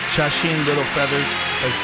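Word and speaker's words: Sacheen Littlefeather: Mar and the godfa Miss Chen Little Feathers chasen little feathers said it right she's going to accept his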